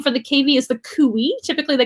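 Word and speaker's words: cuy: food and things like that they call them kui c-u-i i think it's c-u-i or c-u-y i can't remember but it's kui that's how you pronounce it i think it's c-u-y and um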